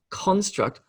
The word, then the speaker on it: construct: the second syllable but if i use that word as a noun like a mental construct construct this the emphasis shifts to the first syllable so the word stresses on con not struct so if i feel